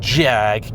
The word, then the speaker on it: Jag: that only an old jag can be for americans if you're unaware the correct spelling is a j five a's and a g and it rhymes with swag the engine although not